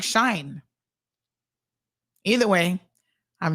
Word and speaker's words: Shein: Soka says Shein, we're all pronouncing it wrong, I think, is pronounced like shine.